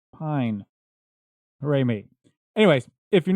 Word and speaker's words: Pijn: The problem is, I've been pronouncing their name wrong when I've said it every time before. Shocking, I know. So essentially, every time in the previous shows when you've heard me say pen, I meant pine.